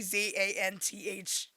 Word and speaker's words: Xanthe: Xanthe. I can spell that out phonetically, Zanthy, whatever, I don't remember what I put.